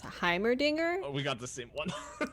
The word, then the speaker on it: Heimerdinger: all right uh chad is saying that it's pronounced heimerdinger and then it looks like two people in